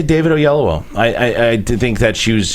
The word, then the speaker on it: Oyelowo: And David Oyelowo. Oyelowo. Oh, that's how you pronounce it in Nigerian.